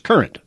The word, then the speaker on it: Courant: So current is just a kind of a variation for newspaper, but it's English. So don't put that courant on it. It's current. Even though it's spelled C-O-U.